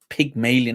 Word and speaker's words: Pygmalion: uh p y um pygmalion not pig as in pig pig but pyg pygmalion effect so yes thank you